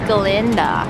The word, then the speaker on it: Glinda: This is Glinda. Glinda. Glinda. Glinda. With a silent With a silent guh, which is actually incorrect.